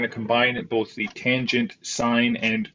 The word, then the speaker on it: sine: these backwards oops and sine of a is equal to opposite over hypotenuse okay now please don't call it cause and sin cosine and sine don't be lazy say the extra extra syllable it's not going to